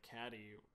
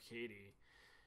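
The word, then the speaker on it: Cady: a running joke where her name gets mispronounced as like Caddy instead of Katie, and that's pretty much like the height of the humor with that character.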